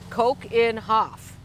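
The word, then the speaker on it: Keukenhof: first one is from coogenhof greetings visited my daughter in Amsterdam and was amazed with the variety of tulips what an incredible place she says pronounced Coke in Hoff I've ordered so many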